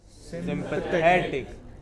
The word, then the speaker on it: sympathetic: Say for example, all words ending in IC, ick, have this kind of stress on the pre-final. So, you have dramatic. What is it? Dramatic. Next. Scientific. Next. Sympathetic.